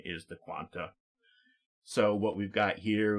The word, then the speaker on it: Qan[T]: Sometimes the Quanta, I apologize. Sometimes it's also just pronounced Quant without the A at the end. But I think the more acceptable or correct pronunciation is the Quanta.